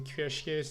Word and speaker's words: cuirassier: Training some cuirassiers now. I don't know why I tried to put some kind of accent on this word, but we pronounce that cuirassier actually.